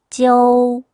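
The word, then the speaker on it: jiu: O를 빼고 J, I, U로 표기를 한다. 그렇다고 이거를 발음을 그냥 지우로, 지우 이렇게 소리를 내는 것보다는 알파벳 O가 있다고 생각하고 가볍게 약하게 발음을 넣어서 읽어줘야 됩니다. 그러니까 찌오, 찌오 이런 식으로요.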